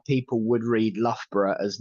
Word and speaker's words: Loughborough: But my favourite is how people would read Loughborough as Logie Baroga. Oh. Yeah, Loughborough is Logie Baroga because that's how it's spelled.